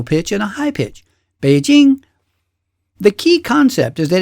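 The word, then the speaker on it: 北京: I mean, that's how Americans say it, Beijing. But in Mandarin Chinese, it's correctly pronounced Beijing. Beijing. Do you hear that? It's two separate pitches, a low one and a high one.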